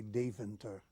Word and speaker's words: Deventer: there to school into college and in Dutch pronounce it would be Deventer de Ven ter and it's an old town